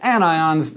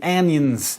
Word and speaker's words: anions: become negative are anions you'll notice despite the rules of English that these are pronounced cations and anions not patient's and anyons the most basic ions